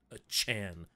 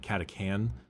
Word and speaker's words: Catachan: like um excuse me the pronunciation of katuchin is not a Chan like you're talking about anime I I'll sometimes they do call it catacan um but that's just